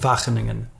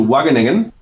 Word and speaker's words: Wageningen: was my pronunciation of wageningen uh it's it's it's good yes so talking with english people i would mostly myself switch to wagoning oh really okay but